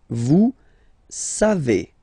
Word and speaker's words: savez: Then vous savez. Classic ending for vous, E-Z, but then phonetically it's E.